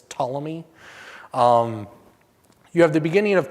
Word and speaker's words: Ptolemy: as the Ptolemy dynasty, spelled with a P, so like pterodactyl, it's Ptolemy.